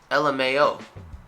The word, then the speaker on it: LMAO: ass off but uh you can also say it how it is lmao and it's just the letters that you see l m a o lmao so that's easy let's